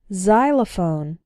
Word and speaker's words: xylophone: ex-husband or ex wife when X starts a word then it's pronounced like Z there are very few of these words in English but a couple of them are xenophobia xylophone and Xerox xenophobia means fear